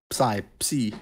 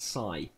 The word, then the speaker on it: psi: Psi, whatever. Psi, okay, it's psi. It's without the P, is silent.